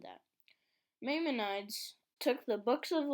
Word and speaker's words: Maimonides: Maimonides. Is that how you say it? Maimonides? Mayonnaise? Maimonides.